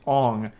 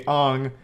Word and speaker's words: Aang: And everyone already knows this, but his name's not Aang in the movie, it's Ong. Sokka is Sokka.